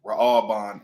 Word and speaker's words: Reuben: Ra'aban is how you say it in ancient Hebrew.